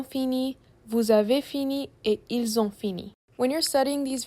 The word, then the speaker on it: ils ont: Make sure when you're pronouncing il elle it has a z sound like ils ont or else you would be saying ils sont which is a completely different verb.